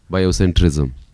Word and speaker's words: biocentrism: that biocentrism tells that i don't think you're pronouncing the word right it's bio what centrism centrism centrism yeah biocentrism okay go ahead tells that